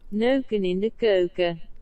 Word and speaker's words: neuken in de keuken: Nuken in de kuken. Actually, it's not pronounced that way. Neuken in de keuken.